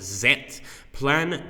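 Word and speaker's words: Z-Plan: so he's saying that the plan is actually pronounced zet plan zet which is very very cool okay so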